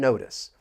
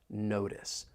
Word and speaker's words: notice: States, the T and notice, I am going to pronounce that as a flap T. It's going to sound more like a soft D.